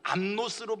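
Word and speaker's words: ἀμνός: 복음서에서의 어린 양은 암노스로 발음합니다.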